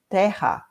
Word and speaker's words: Terra: exactly the way you write it but we pronounce it like Teja but it's the same word written is the